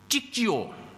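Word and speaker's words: Cicio: Nah, Saudara, namun ee nama baru diberikan kepada anjing ini namanya Cik Jio. C I C I O ya. Bacanya begitulah. Cik gitu lah ya.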